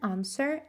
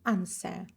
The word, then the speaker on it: answer: I can answer now. Answer. Answer. W не читається.